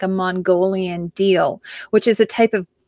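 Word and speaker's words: deel: So it's sort of like, and they have what's called a summer deal and a winter deal. Deal is spelled D-E-E-L.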